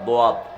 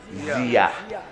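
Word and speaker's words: ضياء: সোয়াদা দোয়াত দিয়া, আমরা বাংলাতে উচ্চারণ করি কি? জিয়া। এটা হলো দিয়া মানে হলো আলো, দিয়া মানে কি?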